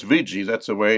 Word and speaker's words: Ouija: to use a VG board now it says VII that's the way it's pronounced but it's spelled o u i j